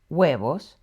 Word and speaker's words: huevos: La letra H is always silent, unless it's paired with a C. Then it makes the ch sound. Some examples are huevos, and an example with a CH would be churros.